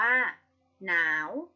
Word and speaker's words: หนาว: เรียง กัน ใคร ชนะ ตัว แรก คือ หอ เป็น อักษร น้ำ ไม่ อ่าน ออก เสียง แต่ อ่าน ออก เสียง 2 ตัว หลัง เช่น คำ ว่า หนาว หน. นาว ว ว หนาว หอน หีด กับ นอน